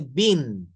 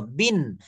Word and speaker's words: been: তে থাকে was were past পার্টিসিপলে থাকে হচ্ছে বিন বি ডাবল ই এন উচ্চারণটা হবে বয়রস্ব দন্তন্য বিন আর এই শেষেরটা উচ্চারণ হবে বিং বয়রস্ব অনুস্বর